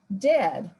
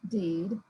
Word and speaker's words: dead: there's another one and dead it's said like bed not feed for goodness sake don't call it deed watch out for meat